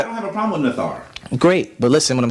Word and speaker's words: neter: So as I said earlier, I said we as Nuwaupians would not pronounce the word neter. We would pronounce it nathar. And we would pronounce it nathar based on our translation.